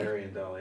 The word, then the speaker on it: Ariandel: Ashes Ariandel, is that how it's pronounced? Someone's gonna kill me. Ariandel, yeah.